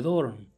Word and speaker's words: Dorne: ver un ejército de Dorne, o Dorne, para pronunciarlo como se escribe.